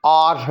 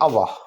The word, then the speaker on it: our: आवर या आर दोनों तलफ़ुज़ दुरुस्त हैं। इसका मतलब है हमारा, हमारे, हमारी। स्पोकन इंग्लिश में अलबत्ता आर साइलेंट कर देंगे और हम कहेंगे अवा, अवा।